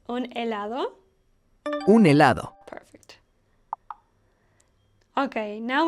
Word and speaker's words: helado: Helado. Helado means ice cream in English. Do you remember? The letter H in helado is pronounced silently, just like in hola.